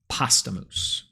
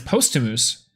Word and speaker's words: posthumous: Pasta mousse. I say it like that every time. It's posthumous, like posthumous.